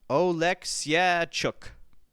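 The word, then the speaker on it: Oleksiejczuk: Actually, I wrote down the phonetic way to pronounce this. It's not actually Michael. It's Michał, apparently. Michał Oleksijczuk.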